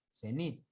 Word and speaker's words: cenit: Por ejemplo, cenit, la palabra que ahí no está. Hemos visto acá. Cenit es una palabra aguda.